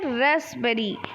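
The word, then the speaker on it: raspberry: होता है ठीक है रास्पबेरी रास्पबेरी यानी इसमें पी जो है वो साइलेंट है रास्पबेरी नहीं होता है ठीक है चलिए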